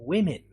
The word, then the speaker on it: women: others that are exceptions for example in the case of short usually it's the letter i but it could be the letter e like pretty or it could even be the letter o like in women or it could be the letter u as in busy so these pages will